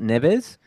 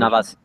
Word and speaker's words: Navas: I mean, Navas, or not Navas, was it Neves, the No, goalkeeper? yeah, Navas. That's the right Yeah, pronunciation. Navas.